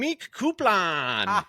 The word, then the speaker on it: Myq Kaplan: It's, you know, I feel like for myself, I pronounce it Myq, you know, like your classic Myq, and it is something that I did bring upon myself by changing the spelling, not the pronunciation.